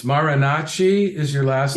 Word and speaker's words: Marinacci: post this video and find out but it's marinachi is your last name yeah it's spelled m as in Mike as in Allen